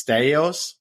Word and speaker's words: Staios: And here's a great quote from a former teammate, Steve, and I'm going to say it's Staios.